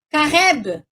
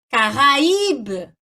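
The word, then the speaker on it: Caraïbe: Se não tiver trema, sem trema, eu faria assim, ó, Careb, Careb. Mas como tem trema, como é que eu leio? Caraíbe, tá?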